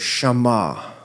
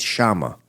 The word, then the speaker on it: Shammah: What spell is Shammah. S H A M M A H Shammah. If it was just one M, Shammah. Yeah. But if there's two M's, it's Shammah.